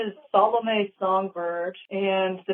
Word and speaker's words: Salomé Songbird: So, can you guys just tell us how you pronounce your band name real quick? Sure. The band name is Solomon Bird.